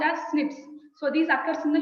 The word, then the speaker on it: SNPs: So single nucleotide polymorphism, pronounced as SNPs.